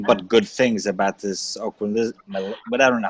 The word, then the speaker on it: Ocrevus: See, I've been hearing nothing but good things about this Ocrevus, but I don't know how to say it. Ocrevus, you're right, Phil.